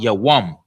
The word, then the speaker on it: Yawam: Let's get you each syllable of Yawam. Day. Ya. Y-A. Ya. Wum. Wum. W-A-M-A. But of course, we don't put the A at the end when you're writing it, because the wum is together.